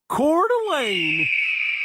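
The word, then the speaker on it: Coeur d'Alene: of I'm just kidding uh the way you pronounce that city name I learned is actually cordain very greting on the ears okay so quick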